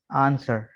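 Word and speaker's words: answer: इसके बाद यहाँ पर डब्ल्यू साइलेंट है। आंसर, ठीक है, ANS WER, आंसर।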